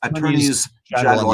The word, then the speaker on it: attorneys general: We have had 86 attorneys general, and yes, that's how you pronounce the plural of them. It's attorneys general.